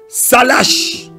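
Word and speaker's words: סלח: Le troisième mot grec, pardon, je dois dire hébreu, qui veut dire pardon, c'est salash. Salash s'écrit S-A-L-A-C-H.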